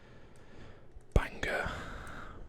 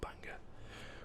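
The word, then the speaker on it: Bangor: few to add here so this is banger b-a-n-g-o-r banger we've got a beer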